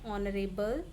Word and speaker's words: honorable: For example, an honorable man. Now here it is starting from H, but the sound is from O.